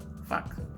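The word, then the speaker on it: Phuc: Jason Wong as Fuck, P-H-U-C, Fuck, I mean, that's how you say it.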